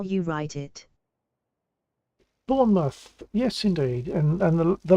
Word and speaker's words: Bournemouth: how you write it Bournemouth yes indeed and and the lady pronounced it correctly she did she didn't say like born mouth which she could have